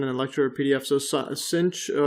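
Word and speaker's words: sinh: what we're given in a lecture pdf so cinch uh it's it's pronounced cinch of x hyperbolic sine is equal to x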